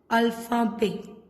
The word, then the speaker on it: alphabet: It will be pronounced as alphabet. Alphabet. See, we are not pronouncing T.